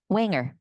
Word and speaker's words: Wanger: Wanger. Rhymes with forest ranger.